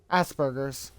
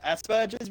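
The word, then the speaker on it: Asperger's: autism yes as do I as do I Asbergers I know I know it's pronounced Aspergers but yeah I can see why some people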